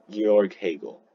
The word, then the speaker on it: Georg Hegel: Is it George or I forgot how to pronounce his name. Like Georg Hegel. Georg Hegel, right.